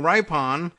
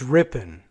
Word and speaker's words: Ripon: clever bit of marketing ripe on it's a small town in Wisconsin where the Republican Party was born oh I didn't even know that probably means I'm mispronouncing it and that it's Ripon sorry Wisconsin the Cruz